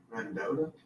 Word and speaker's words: Mendota: Mendota, how do you say it? Is that how you say that? That's right. Mendota, M-E-N-D-O-T-A, Virginia.